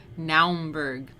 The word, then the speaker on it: Naumburg: the pronunciations because i always look up the pronunciations and i think my reactions are always like naumburg so naumburg cathedral the strasbourg style with its